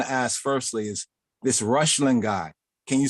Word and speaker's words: Reuchlin: Okay, it's Johannes Rushlin, but it's spelled Johannes for Johannes. Okay. And Rushlin is Reuchlin.